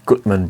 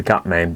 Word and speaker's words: Gutmann: Bose reviews I have got one from the Goodman Brewery now I really want to call this the Gutman Brewery because I don't have something common with